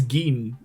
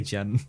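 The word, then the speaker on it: Gin: there she almost kills Gan like twice yeah respect is it g cuz I keep I keep wanting to say Jen I I think it's G the way they pronounce it okay the way G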